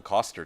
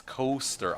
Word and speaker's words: Coaster: me it's like no you're saying my name wrong it's not actually the way you're saying it it's coaster I'm like oh it's